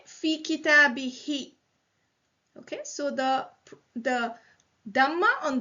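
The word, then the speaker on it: فِي كِتَابِهِ: So instead of saying who, for ease of pronunciation, we say fi kitabihi.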